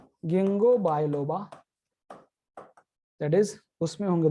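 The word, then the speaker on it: Ginkgo: और फिर ये स्पेशल है, साइकस में कैसे, कोनिफर में कैसे, और गिंगो बायलोबा में कैसे। यहाँ पे के इज साइलेंट, याद रखो।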